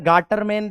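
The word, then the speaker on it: Gattermann: दूसरी होती है हमारी गेटरमैन रिएक्शन। कौन सी होती है? गैटरमैन रिएक्शन या फिर गार्टरमैन रिएक्शन कुछ भी बोल दो अलग-अलग प्रोनाउंसिएशन। प्रोनाउंसिएशन से कोई फर्क नहीं पड़ता।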